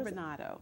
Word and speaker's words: turbinado: And Now pronounce that for me one more time. What kind of sugar? turbinado.